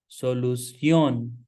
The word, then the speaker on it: solución: Solución. As there an accent on O, so you have to give stress there. Solución.